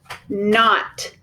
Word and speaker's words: knot: We're going to draw a line through our K because it is silent.